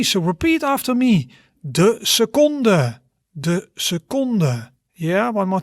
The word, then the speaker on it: seconde: we would say de seconde. De seconde. You see, almost same, but we have an sound at the end.